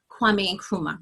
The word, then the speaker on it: Kwame Nkrumah: Marcus Garvey, Elijah Muhammad, Malcolm X, oh my goodness, Kwame Nkrumah, right?